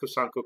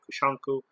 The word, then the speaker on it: Kusanku: For instance, I actually do a style, kusanku, and our kusanku can also be said kushanku.